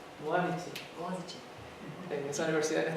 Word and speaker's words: Boğaziçi: Ella es profesora en la, no sé pronunciarlo bien, en la, how do you pronounce your university? Boğaziçi. Boğaziçi.